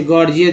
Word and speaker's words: gorgeous: जैसे गॉर्जियस देखिए, GORGEOUS, गॉर्जियस, पहला जी ग, दूसरा जी ज के रूप में उच्चारण हुआ।